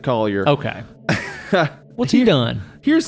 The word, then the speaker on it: Coulier: did the makeup um Mark uh Collier or Coulier it's spelled Cooley cut it out but he's from England so I'm betting he pronounces it Collier okay what's he doing